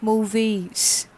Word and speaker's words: mauvaise: For femina it becomes mauvaise, an extra e is added and the pronunciation becomes mauvaise.